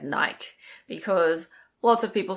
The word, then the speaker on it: Nike: This is Nike. Nike. There are some people who say Nike and technically that's incorrect, but honestly I wouldn't correct somebody if they said Nike because lots of people